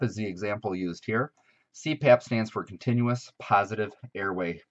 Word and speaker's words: CPAP: the example used here CPAP stands for continuous positive airway pressure and what is unique about an acronym is that we can actually put it together and pronounce it as a word so CPAP in this case and